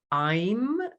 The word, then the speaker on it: Aim: And so the Bija mantra there is Aim. You can spell it A-I-M or A-Y-M, Aim.